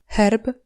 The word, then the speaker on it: herb: À part ça, H et CH se prononcent exactement de la même façon, Herb, blason, chochla.